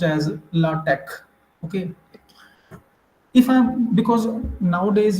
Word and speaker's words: LaTeX: to use in lch format that is generally pronounced as latex okay but in professional way in technical way lat latex is actually or it should be pronounced as lch okay if I because nowadays you might have